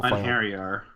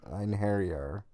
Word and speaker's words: Einherjar: Einherjar, by the way. Einherjar. I mean, that's spelled really weird.